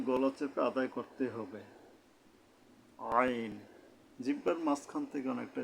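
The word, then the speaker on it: عين: জ এরপরে আমরা আসবো আইন আইন উচ্চারণটা হলো জিহ্বা মাঝখান থেকে তালু আছে উপরে ওখান থেকে মানে হলকের মধ্যে গলা চেপে আদায় করতে হবে আইন আইন অর্থাৎ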